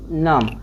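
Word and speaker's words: gnome: तो जी इसको नहीं, जी ये तो पढ़ते जी नाम, जी नोम पढ़ते, लेकिन ई जी को साइलेंट रखिए, इसको क्या पढ़ेंगे, नोम।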